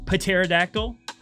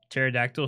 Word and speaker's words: Pterodactyl: Pterodactyl spelled with a P. Oh, I'm so dumb! Let's just put a silent P in front of something, because that makes a lot of sense.